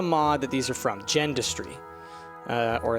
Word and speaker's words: Gendustry: Gendustry. Uh, or I think some people pronounce it Gindustry, but Gendustry.